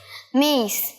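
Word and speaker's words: mace: নাট মেঘ আর জৈত্রীটা মেইস জৈত্রের ইংরেজি মেইস আবার এখানে তোমরা অনেকে মেস বলবে কারণ এম এ সি ই মেইস উচ্চারণ কিন্তু সঠিক উচ্চারণে একটা হসই থাকবে মেইস মেইস আরেকবার বলে দে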